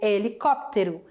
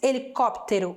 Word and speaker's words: helicóptero: E helicóptero, como é que falamos helicóptero em espanhol? Será que é igual? Será que é mais difícil de pronunciar? El helicóptero. A mesma coisa, escreve igual, muda a acentuação e também vai mudar a pronúncia, né?